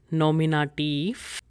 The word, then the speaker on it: Nominativ: So make sure when you're pronouncing these words, there is F sound at the end.